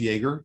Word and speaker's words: Yeager: It's pronounced Yeager, just so you know, and I'm the president